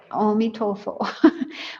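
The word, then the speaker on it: 阿彌陀佛: You're saying Amitofo. That's how they say it, Amitofo.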